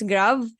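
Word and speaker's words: grave: the acute we have the grav okay it's grav and we have the circumflex so when we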